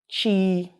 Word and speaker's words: chi: one after b is it's pronounced like that chi and the word i